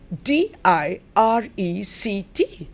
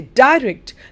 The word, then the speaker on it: direct: in function that means depending on whether the word is a noun or a verb an adjective or a verb there could be a stress change look at the word